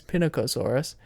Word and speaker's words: Pinacosaurus: or eucalyptus because I didn't know how to pronounce it um but this is pinnacosaurus um there is a larger version of this